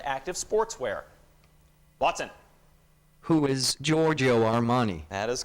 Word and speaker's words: Giorgio Armani: Who is Giorgio Armani? That is correct. Well pronounced as well, Watson.